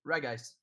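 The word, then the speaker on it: Regice: okay that's the only it's a hard G reg ice oh of course it's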